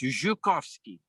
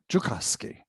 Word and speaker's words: Joukowsky: It's pronounced Joukowsky. Joukowsky.